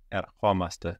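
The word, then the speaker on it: ερχόμαστε: And with the accent on the o, omaste. So we're coming, we come. Erchomaste.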